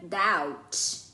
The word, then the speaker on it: doubt: Número 5 é a palavra doubt. Doubt. O Bzinho é mudo, né?